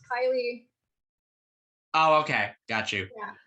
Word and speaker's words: Kailee: And joining me right here is. Hey, Kaylee, how you doing today? I'm doing great. Yeah. That's good to hear. Yeah, just to FYI, it's pronounced Kylie.